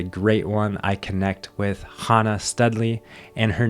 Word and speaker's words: Chana: I connect with Hana Studley, and her name is Hana, even though I say Chana in the beginning of this episode, which I am a little bit embarrassed about, but that's all right.